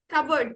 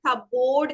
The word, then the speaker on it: cupboard: Cupboard, very good. Okay, അധിക ആൾക്കാരും നമ്മൾ പറയാ cupboard എന്നാണ്.